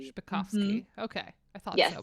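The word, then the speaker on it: Zbikowski: Spikovsky.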